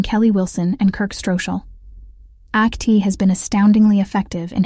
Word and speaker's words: ACT: and commitment therapy act act pronounced as the word Act was created in the